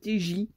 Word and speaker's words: TJ: comment ça se dit il se prononce t j paris ce surnom ses